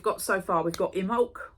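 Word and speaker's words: Imbolc: so far we've got imul which is spell imul but it's i m b o l c imol on February 2nd and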